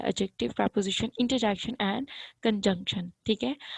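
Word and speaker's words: adjective: फिर एडजेक्टिव आता है, इसको एडजेक्टिव नहीं बोलेंगे, इसको एडजेक्टिव बोलेंगे, यहाँ पे डी साइलेंट है।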